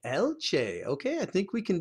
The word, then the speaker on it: alce: It's almost like Alice, but it's Alce. Alce.